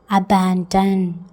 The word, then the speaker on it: abandon: ஏக்கு ஆவும், பிக்கு இப்பும், ஏக்கு அப்புறமா ஆ, எண்ணுக்கு என்னது இன் போடணும், டிக்கு இட், ஓக்கு ஆ, எண்ணுக்கு இன். ஏக்கு ஆ இப் ப்ளஸ் ஆ ப இன், இட்டு ப்ளஸ் ஆ ட இன். அபேண்டன், அபேண்டன், அபேண்டன் வாசிக்கணும்.